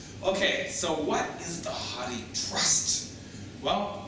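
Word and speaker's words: HathiTrust: so what is the honey trust well first of all it's pronounced hot tea as if hot tea right and a lot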